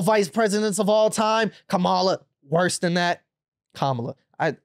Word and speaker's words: Kamala: a part of that I want to correctly say her name you feel me comma yeah I mean I feel like comma is probably easy to say too but the thing